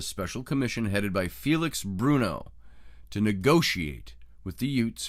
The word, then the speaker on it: Brunot: told the Chiefs it's Bruno Bru n o t is the way it's spelled t is silent it could be brunot I choose to pronounce it Bruno he told the Chiefs